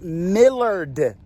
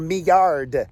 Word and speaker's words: Millard: got the name wrong it's millard falls or me yard falls m-i-l-l-a-r-d and it's just a